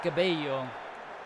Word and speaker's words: Cabello: Isaac Cabello. That's how you say it.